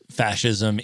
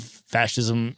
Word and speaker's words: fascism: off Italian phonetics like the sci being pronounced like s-h-i in English That's Italian and that comes from